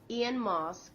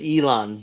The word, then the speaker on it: Elon: yeah she screwed up she butchered his name what Ian MOS Ian mosque it's Elon but okay made a video